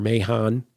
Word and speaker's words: Mahon: And we even have later where, Cain slew Abel and he says, I'm Master Mahon, as in Master Mason, it rhymes with that.